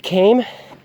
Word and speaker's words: Kame: Once you feel comfortable on that, you can graduate to Big Kame. As I learned today, it's pronounced Kame and not Kame.